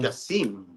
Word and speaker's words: Jasim: Jasmine, how do I pronounce his name again? Jasim.